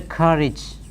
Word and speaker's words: courage: each then we have Co you are a GE how again courage you should have the courage courage courage and you know the